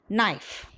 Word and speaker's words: knife: So kn, it is also pronounced as n, no, knit, knife.